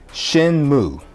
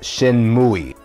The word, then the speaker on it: Shenmue: And number five, Shenmue. And no, it's not Shenmue. If you pronounce it like that, it just sounds like you're doing a very, very bad Japanese impersonation.